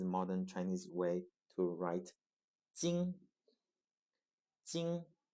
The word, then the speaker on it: 金: word for metal or gold which is also 金 jīn 金 jīn 金 jīn you see here the